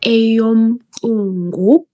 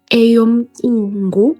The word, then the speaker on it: eyoMqungu: Eyomqungu. Eyomqungu. So your tongue must kiss your palate when you are pronouncing ah. So your tongue must be at the top of your palate.